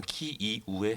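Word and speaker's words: Київ: 우크라나 정부에서 지적이 있었든 우크라이나의 수도는 우크라이나 어의 명칭으로는 키이우에 해당하고 러시아식 발음을 했을 때 키예프에 해당하는데요 저희가 기본적으로 우크라이나 수도를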